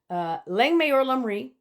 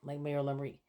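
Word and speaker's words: Lang may yer lum reek: Anyway, Lang Mayor Lumri. I'll put it on the screen here so you can see it, how it's spelled. But that's how you say it, Lang Mayor Lumri.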